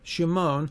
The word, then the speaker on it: Shimon: a common name simon simon can be pronounced in the hebrew shimon or the english form